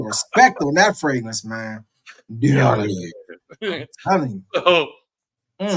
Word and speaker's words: Diaghilev: Diaghilev.